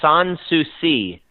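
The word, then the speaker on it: Sans Souci: were the captain of San Succi is that correct as if I got the pronunciation right there yeah pretty close sanssouci which in French means no problem oh so we thought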